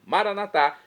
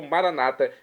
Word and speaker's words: Maranatá: Maranatá, como dizemos nós católicos, ou maranata, como dizem nossos irmãos separados, irmãos das comunidades evangélicas ou protestantes, não importa a pronúncia, o significado é o mesmo.